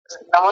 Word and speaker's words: नमः: हां दूसरा इन्होंने नमः बोल दिया था। नमः ये विसर्ग जो होता है ना पीछे दो बिंदी जो रखी है ये। ये नहीं बोली थी। इन्होंने नमा बोल दिया था। जबकि क्या है ये? नमाः नमाह ऐसा बोलेंगे।